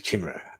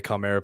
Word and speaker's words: Chimera: Vic King says, Manticore are laughing at the Chimera. Ironic. Yes, the world is full of irony, Vic. It's pronounced Chimera, Manticore. Yeah, I like the sound of Chimera better. No, it's Chimera.